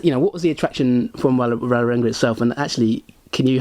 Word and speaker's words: Vålerenga: I'll speak Norwegian here, but the A with the little dot on the top of it is pronounced like an O, and I get that wrong completely.